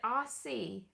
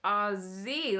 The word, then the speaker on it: Aussie: where i grew up we called it aussie like with this sound and then when i moved here and i realized everyone australian says ah z like with a zed sound i was like oh